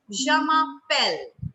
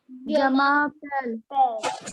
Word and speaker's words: je m'appelle: In French is je m'appelle. What is it? It is je m'appelle. Everybody speak after me. Jamapel.